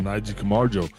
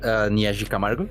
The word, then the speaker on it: Naji Kamaru: It's close enough. Usually it's just Naji Kamaru. It's just go for Kamaru.